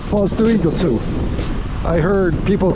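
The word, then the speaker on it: Foz do Iguaçu: live in I've heard a lot of people pronounce it it's fals doosu FAL doosu I heard people say say in all funny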